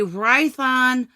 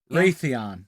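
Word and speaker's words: Raytheon: Because the it was you they were using a Rython de whatever the numbers which was damn good. Rathon. That's what I said. You said Rython. You You mispronounced both syllables.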